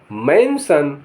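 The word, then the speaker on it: mansion: हमला एम ए एन एस आई ओ एन मेंशन मेंशन माने महल आर U double S आई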